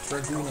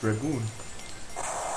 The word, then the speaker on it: Dragoon: Also ich weiß, dass Dragoon ausgesprochen wird. Dragoon.